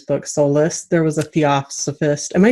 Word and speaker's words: Theosophist: So I think in Gail Carriger's book, Soulless, there was a Theosophist. Am I saying it right? Theosophist?